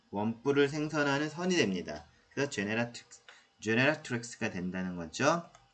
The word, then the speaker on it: generatrix: 그래서 generator, generatrix. 좀 발음이 어렵죠? 그래서 generator에 genera까지 외우시고, rix만 붙여주면 돼요. generatrix.